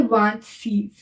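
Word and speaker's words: vingt-six: 26 को बोलते हैं वांत सीज। क्या बोलते हैं? वांत सीज। इसको व, इसको क्या प्रोनाउंस करते हैं?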